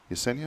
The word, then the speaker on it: Yesenia: I think it was, is it Yesenia? Am I saying that right? Yes, you're saying it correctly.